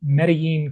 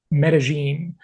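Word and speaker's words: Medellín: to you from beautiful meden Colombia or as the locals say medine I just can't quite get myself to pronounce it that way but that is the correct way anyway got a couple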